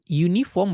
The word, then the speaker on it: uniform: n sesudahnya diikuti uniform uniform bacanya you jadi ada wine jadi ini huruf konsonan